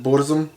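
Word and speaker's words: Burzum: creator of a band called bursum or as he pronounces it buddhism well this guy is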